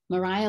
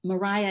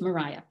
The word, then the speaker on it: Maria: Mariah was the pronunciation until after the Napoleonic Wars, when the English started traveling more on the continent and they were exposed to the Maria pronunciation then.